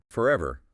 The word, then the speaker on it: forever: It just means the R sound isn't pronounced if it's at the end of a word or if it comes before a consonant sound. It basically disappears. So in that letter, words like summer. Forever, heart, more, your. In RP, the R in those positions is silent.